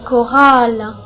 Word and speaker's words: chorale: Mais certaines fois, le CH peut se prononcer que. Par exemple, une chorale.